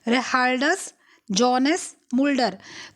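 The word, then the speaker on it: Gerardus Johannes Mulder: जो इनका नाम है, इसमें ये जो जी ई है ये साइलेंट है। ठीक है, तो इनका नाम क्या है? रिहार्डस जोनस मुल्डर।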